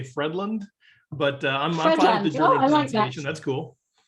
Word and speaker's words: Fredlund: week steve hoytland and i meant to ask you how you pronounced your surname because i speak german and i may have over germanized it by steve that's how we'll say it in german here in the us we say fredland but uh that's cool